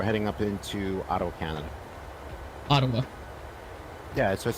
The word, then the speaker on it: Ottawa: okay that was like I heard you say Auto I'm like it's Ottawa wait here we go